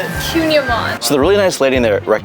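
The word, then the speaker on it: kouign-amann: It's like whatever you recommend, that's what I'm gonna The Cunyaman. get. Yeah. How do you say it? Cunyaman.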